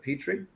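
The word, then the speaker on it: Pitre: It's pronounced Petrie, but it's spelled P-I-T-R-E.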